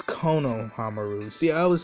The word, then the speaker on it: Konohamaru: Kamahamaru, awesome. If I say his name right. It's Konohamaru.